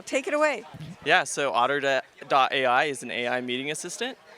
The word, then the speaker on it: Otter: hi we're here at is it pronounced uto AI otter oh like the animal otter Ai and we're here